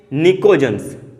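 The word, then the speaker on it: pnictogens: और बोला जाता है निकोजेंस। पी क्या रहेगा यहाँ पे? साइलेंट। निकोजेंस भी कहा जाता है।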